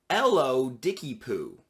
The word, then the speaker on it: ellodickypoo: of people had difficulty with it it was pronounced ello dickie poo hello dicky poo and i thought it was